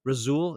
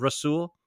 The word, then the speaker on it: Rasul: he still can't say rasul he still says razul also Dan orlovski today on ESPN razul instead of rasul get the guy's name